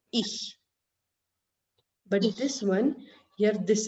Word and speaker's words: ich: So this word is not ik, but ich.